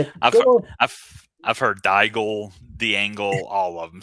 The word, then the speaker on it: Daigle: Daigle. So, it's like bagel but with a D.